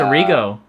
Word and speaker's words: Errigo: Well, my name's Errigo Jr., and Oh, it's Arrigo.